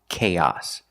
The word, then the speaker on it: chaos: This word is pronounced chaos. The first sound is the hard ck sound like cake and cookies. K. The first vowel is a long a k like say and pay. K. Chaos. Chaos. The second vowel is the short a sound like hot and stop. It's the short o.